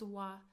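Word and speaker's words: は: So when we use it as a particle we pronounce it as wa.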